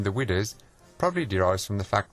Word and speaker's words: Widders: The Crown Inn on Barrack Lane in Cradley has for many years been known colloquially as the Widders, a Black Country pronunciation of Widows.